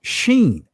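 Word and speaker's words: שׁ: his israeli language right depending on the placement of the dot if it's to the right it'll be pronounced sheen if it's still on the left it'll be pronounced seen but the numerical value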